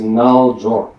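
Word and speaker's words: རྣལ་འབྱོར: constitutes a path because yoga in tibetan is null J it's two syllables and J is what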